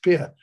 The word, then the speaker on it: Pierre: there needs to know it's called Pierre pronounced Pierre um absent all that